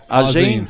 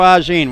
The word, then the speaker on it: Auzenne: good shot there by Joe Judi am i pronouncing that right Joe Ozzie Ozzie yep Joe a gene well I was close ray missed that kick